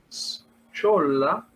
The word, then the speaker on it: schola: en la forma schola, schola, pronunciando un poco macarrónicamente, tal como se escribe, ¿no?